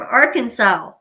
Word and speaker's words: Arkansas: Oh, you're from Arkansas. Cool. It's actually pronounced Arkansas, okay?